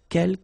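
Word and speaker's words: quelques: second one uh K you don't pronounce the final s here Kel means few okay and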